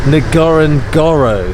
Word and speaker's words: Ngorongoro: So that's how you say it, Ngorongoro.